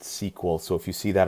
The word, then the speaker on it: SQL: it's called my sequel SQL is pronounced sequel so if you see that out there in the industry is its sequel not SQL for the most part